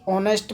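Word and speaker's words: honest: Okay, क्योंकि इसमें H silent रहता है, तो ऐसे ही ऑनेस्ट में एच साइलेंट रहेगा।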